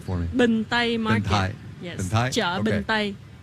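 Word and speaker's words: Bình Tây: Binh Thai Market.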